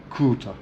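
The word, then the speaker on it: круто: that everybody uses right crout crout now again you can't hear me pronounced the R so probably sounds like incorrect but C so I'd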